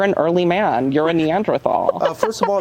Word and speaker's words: Neanderthal: You're a Neanderthal. Uh, first of all, it's pronounced Neanderthal.